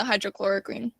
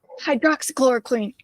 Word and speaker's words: hydroxychloroquine: What about the ivermectin and the hydrochloroquine? Is that how you say it? I don't know. Hydroxychloroquine.